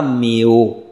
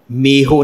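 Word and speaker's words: ਮੇਓ: शब्द का रहाव है ना जाना मेओ, मेहो नहीं है, हाहे नाल नहीं उच्चारण करना, इसनूं मेओ ऊड़ा।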